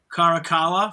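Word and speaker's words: Caracalla: reading friend movies Emperor Carakala from Gladiator 2. Yeah. He also has pronunciation too. Was that right? Yes. Yeah. The Latino has a hard C.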